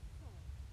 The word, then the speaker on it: sont: Il or elle, sont. My T is completely silent, and my N is nasal.